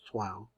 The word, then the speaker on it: Troyes: And Mainz, 1068, referring to Troyes, which I'm pronouncing the way my French friend says that the Troyes is really pronounced Troyes, and established yeshiva.